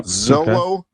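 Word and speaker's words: Xolo: the actor's name yeah I'm gonna say Zolo solo right is that is that how you pronounce that I think I think that's right yeah x-o-l-o Zolo yeah Zolo um uh married doing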